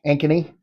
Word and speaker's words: Ankeny: our hunt in De Moine actually it was Ankeny there I said it right Luke are you